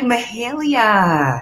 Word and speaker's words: Mahalia: Hi, Mahalia. Hi, how are you? I'm doing well. See, I got the pronunciation right that time.